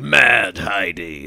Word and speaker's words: Mad Heidi: want to do is say mad Heidi the way you would say like machete like that's how that's